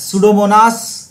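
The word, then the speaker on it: Pseudomonas: the correct answer सूडोमोनास सूडोमोनास piece silent है याद रखिएगा यह सूडोमोनास द करेक्ट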